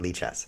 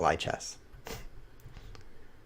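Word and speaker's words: Lichess: I knew I was awake because I was pronouncing it Lee chess. When I'm asleep, I call it lie chess.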